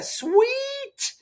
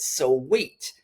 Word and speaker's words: Sui: I'm going to pronounce it sweet.